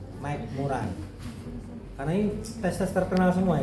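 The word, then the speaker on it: McMurray: Ini bacanya Mike MC master master. Mik murai karena ini tes-tes terkenal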